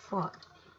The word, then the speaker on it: phi: So this is right angle triangle, this is where phi is, so this symbol is pronounced as phi.